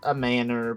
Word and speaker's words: manor: You know, a big house, a manor pronounced just like the things you were apparently raised without.